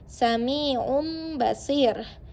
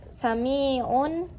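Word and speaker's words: سميع بصير: Jadi kalau kalian membaca sum samiun itu salah. Tapi kalau kalian membaca samium basir itu baru benar.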